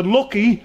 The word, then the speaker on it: Lughee: It's about my daughter, and the lucky is spelled L-U-G-H-E-E, and it's the Manx word for mice, so it's mice are unlucky.